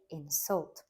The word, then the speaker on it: insult: insult to my intelligence in a form of a verb we'd say insult stressing the second syllable so it would mean